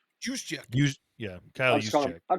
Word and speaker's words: Juszczyk: How do you pronounce his name? Juice check. Kyle Juszczyk.